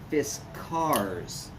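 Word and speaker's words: Fiskars: fiskers is biskers actually diskers is not how they say it's fist cars don't ask me how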